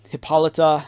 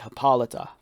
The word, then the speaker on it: Hippolyta: file and for me it referenced uh hippolyta you know that's the way you pronounce it you pronounce it hippolyta so yeah queen hippolyta